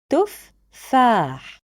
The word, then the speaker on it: تفاح: So it's originally made out of consonant fa followed by fa with فتحة on top. So it's made out of two syllables. تفاح. I will say تفاح. This is the way to pronounce it correctly.